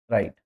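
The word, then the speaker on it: write: ओ एनजी है ना या डब्लू आर आई टीई राइट अब देखिए इसमें डब्लू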